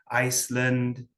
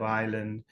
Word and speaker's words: island: Iceland instead of island.